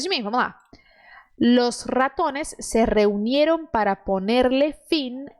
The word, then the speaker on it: ratones: Los ratones se reunieron para ponerle fin a tan difícil situación.